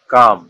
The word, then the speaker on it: calm: এই এল আর এম পরপর থাকলে এবং পরে ভাওয়াল না থাকলে এল অনুসারিত হবে, সুতরাং এখানে এল উচ্চারণ হবে না, তাই এর সঠিক উচ্চারণ হবে কাম, অ্যামস, পামস।